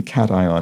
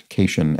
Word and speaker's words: cation: remember especially remember the the pronunciation cation and anion because they're so incredibly unintuitive relative to standard english pronunciation you'd think those would be pronounced occasion and anion or something like that